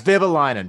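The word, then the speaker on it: Vehviläinen: It's Vivalainen. Vivalainen. It's not that hard. Vivalainen. Not that hard. And his first name is either Vieni or Venny. Vieni Vivalainen.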